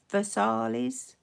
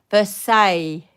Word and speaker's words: Versailles: if it's upside down versailles first and then i versaille versailles very versaille so the less is silent is that it the